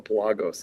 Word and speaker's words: Pelagos: interviewed about it and he calls it the Palagos and I was like, Oh man, we've been saying it wrong the whole time, right?